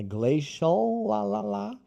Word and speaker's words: glacial: Porque ele no final, você não fecha, você deixa aberto. Mas em inglês americano, não. É glacial, e final, final, glacial.